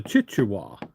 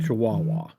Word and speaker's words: chihuahua: She said, "A chichuahua." I said, "A chichuahua?" I said, "I have no idea. Let me see what you" And she handed me the paper and I said, "We pronounce that chihuahua."